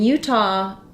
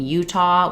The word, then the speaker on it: Utah: so for Utah um so in Utah um we do actually stress on the U so it does U is longer um but we do